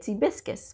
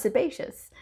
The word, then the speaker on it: sebaceous: Don't ask me why I insisted on calling it sebiscus, but I did. But I know the proper term for it, or the proper pronunciation, is sebaceous.